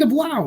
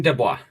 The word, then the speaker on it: Dubois: Dean Dubois. Dean DeBlau. All right. Dubois. DeBlau? You don't pronounce the L? Dubois? All right. I Yeah, believe it is Dubois. French. You got to say it like you're Waluigi.